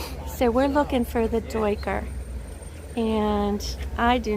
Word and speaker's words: duiker: Jeff pronounces it Duiker, so I do too.